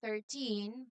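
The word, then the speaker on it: thirteen: confusing but you know we must change the stress or the loud part of the word completely especially when we speak it. For example, if you have or yeah, if you say 13 with a loud part in the wrong place, a native speaker might actually think you're saying 30.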